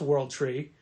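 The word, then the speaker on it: W0RLD TR33: for years book is world tree world tree is a tough book to look up because the O is a zero and the E's are threes so it's pronounced world tree but it's spelled w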